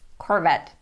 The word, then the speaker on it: Corvette: So remember it's Corvette.